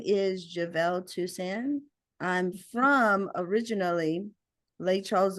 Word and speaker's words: Jivel Tousand: Well, my name is Javevel Tusan.